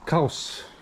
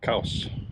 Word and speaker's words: !Xaus: Xaus Lodge, excuse the pronunciation. I think acceptable is to say Xaus.